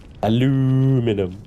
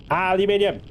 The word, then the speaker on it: aluminium: Aluminium. No. Aluminium. It's got the extra I. See? Look at the spelling. That is spelled aluminium, not aluminum.